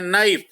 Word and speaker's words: knife: जैसे KNIFE में के साइलेंट है, इसको हम पढ़ते हैं नाइफ।